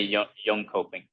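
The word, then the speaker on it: Jönköping: yolk young shopping okay so say young coping because it's like it has the leather Thursday my last name because we're pronouncing the letters the way we do right not the way you do uh but you guys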